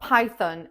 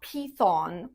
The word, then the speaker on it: Python: Next up, Python. It's not Python. The correct way is Python. Pie like a pie, you know, the apple pie.